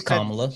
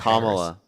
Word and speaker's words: Kamala: which one it is or Well, it's Kamla. She said different. She didn't. We're literally just giving you the correct pronunciation.